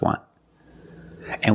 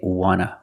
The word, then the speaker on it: want to: And we see the T in want is an NT, so we don't pronounce the T and we say wanna, wanna. I just want to eat. Want to or want to, you can pronounce it wanta or wanna. Both pronunciations are correct.